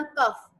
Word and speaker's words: cough: तो फोटो का भी जो है इसी तरह कफ, COUGH, कफ, GH यहाँ पे फर्स्ट साउंड प्रोड्यूस करता है।